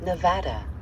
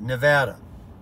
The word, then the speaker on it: Nevada: me listen to this welcome to Nevada see she says it right I've heard it enough times now that I say it right Nevada what a life folks